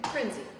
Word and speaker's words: Prinzi: with us actually Piper how do you say your last name frenzy exactly how it's spelled exactly how it's exactly